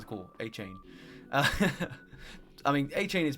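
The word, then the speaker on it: Achane: between Raheem moer and Devon achain I believe is how you say it I believe I've heard a couple people say both but I'm going to go with achain or a a a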